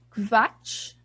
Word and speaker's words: Quatsch: Mas em alemão, em palavras em alemão, o QU, na verdade, tem som de como se fosse um KV. Então, por exemplo, eu vou escrever aqui no chat. Quatsch.